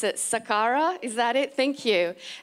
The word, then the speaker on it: Saqqara: what so our I don't know how to pronounce it Saqqara is that it thank you and I just